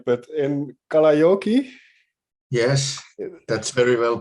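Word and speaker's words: Kalajoki: have to pronounce the name right but in kalayoki yes that's very well pronounced okay what kind of town is that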